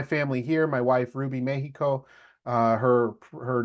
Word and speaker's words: Mexico: And it comes from this notion of when Mexico was conquered by the Spaniards, you actually pronounce the X as a she name, a she sound. So it used to be Mexico, okay, or Mexicas.